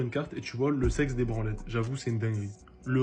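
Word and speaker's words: Sex des Branlettes: c'est réel en fait ça s'écrit vraiment le sexe des branlettes en Suisse on le prononce le C des branlettes imagine tu es là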